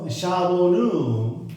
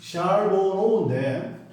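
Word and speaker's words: Charbonneau: His name was 샤보누. 샤보노인데 샤보노 하겠습니다.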